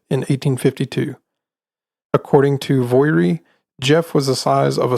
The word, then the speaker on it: Gef: I'm going to stop here and mention that Jeff is spelled gef and I kept thinking that it was called gef but on the Wikipedia article you know how